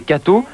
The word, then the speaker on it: K.to: À l'initiative du diocèse de Paris et non des groupes de presse catholiques, une chaîne de télévision catholique provisoirement baptisée K.to, prononcée Cato, devrait bientôt voir le jour.